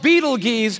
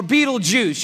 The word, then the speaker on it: Betelgeuse: heard about this star it's called beetle G's or Beetle Juice you can pick your pronunciation I'm obviously going with Betelgeuse and Betelgeuse is incredible